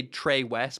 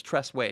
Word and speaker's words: Tress Way: I always want to say Trey West, but it's Tress Way.